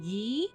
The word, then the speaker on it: Guy: for them and so i'm gonna mix up ghee or guy they're the same name but i heard people say his name is supposed to be yee but i call him god because it's spelled like guy so yeah so if i